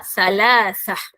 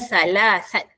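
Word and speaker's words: ثلاثة: Jadi nombor tiga ialah salasah bukannya salasat.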